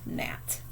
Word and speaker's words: gnat: We're going to spell gnat. So the KN and the GN are a little tricky because they both have a silent letter at the beginning and then an N.